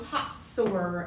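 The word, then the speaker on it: Hazor: this city Jericho went into this city AI pronounced I right went into Hots h a z o r they went into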